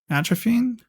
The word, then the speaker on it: atrophying: Atrophying? How do you? Atrophying. Atrophying. Yeah, that's how you say it.